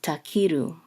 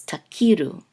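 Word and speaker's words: תכירו: So this is takiru. This is the the trope mark. It's above the kaf, so this is the syllable that gets the accent. So it's takiru.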